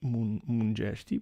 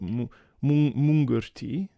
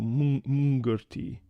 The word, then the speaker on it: Mengerti: The pronunciation for Mengerti is a bit tricky because you don't pronounce Mengerti as Mungerti, but Mungerti, and it is read like ng, ringing, so Mungerti.